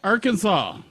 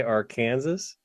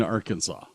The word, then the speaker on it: Arkansas: It is illegal to pronounce the state name any other way than are can can saw. Saw. It is a misdemeanor. I can't say our Kansas.